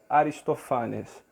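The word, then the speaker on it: Ἀριστοφάνης: seja as rã e o nome do nosso autor que em grego se pronuncia aristofanes tá uma pequena diferença a de pronúncia por causa do acento tudo bem Vamos então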